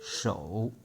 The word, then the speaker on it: 手: And number 3, 手, slowly, 手. You see the picture below. This is the writing of 2,000 or 3,000 years ago. Really looks like a hand, and with 5 fingers. And sound connection. Show you my credit card with my hand. Show and 手.